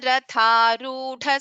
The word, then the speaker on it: रथारूढ: Just that after the Chakra Raja Ratha Rudha Dha Mahaprana is there. So you will have to pronounce it like this. Chakra Raja Ratha Rudha Sarva Yudha Parishkruta Geya Chakra Ratha Rudha Mantrini Parisevita.